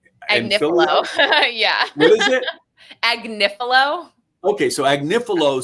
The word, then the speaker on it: Agnifilo: Agnifilo.